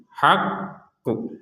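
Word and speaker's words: الحق: Yang perlu diperhatikan mungkin ini ketika kita berhenti di wattumul haqqu haqqu. Jadi huruf qofnya ini kan ada tasydid. Jadi kita tidak sekedar mementalkan huruf qf atau membaca qf dengan pentalan sekedarnya. Tapi harus harus ada tekanannya karena ada tasdidnya. Berbeda kalau enggak ada tasdid. Misalkan, misalkan enggak ada tasdid ya. Wattumul haqqo itu tidak ada tasydid. Nah, sekarang ada tasdid harus ada tekanan.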